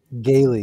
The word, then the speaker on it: Galie: uh on Twitter MD is it gayy or I forgot how to pronounce it gayy you got it y MD gayy on